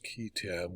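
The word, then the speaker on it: qui tam: as for himself and there are a number of pronunciations but the simplest is ketam which rhymes with ham the false claims act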